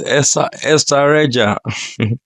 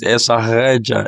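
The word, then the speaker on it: Estarreja: Okay, it is Estareja. Estareja. That's it. So, and I think the Portuguese will pronounce it Estareja.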